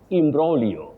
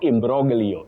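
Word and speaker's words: imbroglio: Imbrolio, not imbrogio. Imbrogio. Interesting, but wrong. That G is silent, not pronounced.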